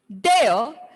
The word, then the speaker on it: there: There, the R sound of there is silent.